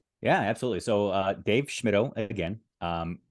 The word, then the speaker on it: Schmittou: no absolutely and Eric I appreciate how you got my name correct there schmido I've heard schmidtau sketchimoto shimitu when I was a classroom teacher I heard a lot of students pronounce my name without the m in the middle um so you know